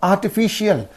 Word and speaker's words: artificial: So here IAL, the suffix is in these two syllables. Okay. And what will be the syllable preceding the suffix means? Only this one.